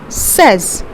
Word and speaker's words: says: says it is a singular syllable and is pronounced as says next we have my child quite often likes